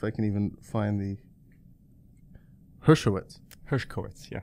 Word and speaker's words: Hershkowitz: let's see if I can even find the Hershkowitz Hershkowitz yeah Hershkowitz yeah okay herskowitz and just to give